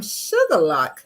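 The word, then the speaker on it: Shuqualak: Johnson I am from sugarlock Mississippi um most people would think that's spelled sugar and lock but no it's not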